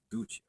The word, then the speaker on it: Ducha: I called her Ducha. Ducha. The like Doochia. Only like a sh, not a ch, like we pronounce it.